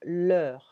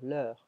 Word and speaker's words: l'heure: Okay, l'heure, yeah, for the pronunciation, l'heure, like, quelle heure, l'heure, l'heure. The context will tell you if you're talking about the time or if you're talking about the possessive adjective.